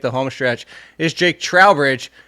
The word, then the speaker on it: Trowbridge: If they asked me like checking in at an airport, it would be Trowbridge.